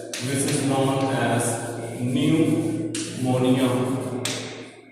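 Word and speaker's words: pneumonia: दूसरी डिजीज है which is known as न्यूमोनिया। P silent होता है, ठीक है।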